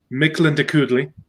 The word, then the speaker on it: Mictlantecuhtli: the name is pronounced Mictlantecuhtli.